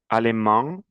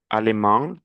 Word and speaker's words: allemand: albanaise l'Allemagne allemand, nasale la prononciation, allemand allemande l'Angle E, l'Angleterre anglais anglaise l'Autriche autrichien autrichienne Répétez s'il vous plaît la prononciation.